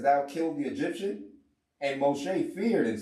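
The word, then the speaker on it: משה: moses but we in hebrew because things is pronounced moshe yes sorry that's why when you girls say moshe that's the hebrew that's right that's right pronunciation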